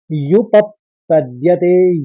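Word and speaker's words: उपपद्यते: आ जाएगा आधा और युप पद्यते युप पद्यते युप पद्यते युप युप कहेंगे युप फिर पद्यते तो सही उच्चारण निकलेगा यु कहेंगे क्योंकि प के ऊपर आघात है तो यु फिर पद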